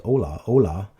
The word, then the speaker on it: ola: It's pronounced just like hola, O-L-A versus H-O-L-A.